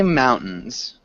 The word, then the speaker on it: mountains: I'd say mountains. So Mountains. now, Mountains. Okay. Thank you. yeah, mountains. Mountains. So you can almost swallow the T too.